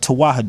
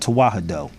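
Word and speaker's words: Tewahedo: to practice true Christianity there is a term called toah and I'mma spell it for everybody very slow it's original Christianity in Ethiopia it's called tah it's spelled t e w a h e d o look it up the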